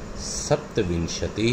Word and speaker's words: सप्तविंशति: तो देखिए 26 यानी 26 को कहते हैं, आप मेरे साथ इसका उच्चारण भी देखिए, सुनिए, षड्विंशति ही, 27 सप्तविंशति ही, 28 अष्टाविंशति ही।